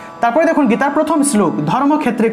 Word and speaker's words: ধর্মক্ষেত্রে: এই যে ধর্মক্ষেত্রে থাকলে উচ্চারণটা হবে ধর্মক্ষেত্রে, ধর্মক্ষেত্রে, অর্থাৎ এই ক্ষয়টা এখানে ভেঙে গেছে, ঠিক আছে? ক যুগ মূর্ধন্যস্য রূপে ভেঙে গেছে। তা আমরা এভাবেই উচ্চারণ করব, অর্থাৎ যে জায়গাতে আমরা ক্ষয় পাব সেই জায়গাতে আমরা সংস্কৃত ক্ষ উচ্চারণ করব, ঠিক আছে?